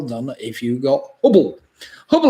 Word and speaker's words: Hubble: Hubble, of course, rhymes with trouble.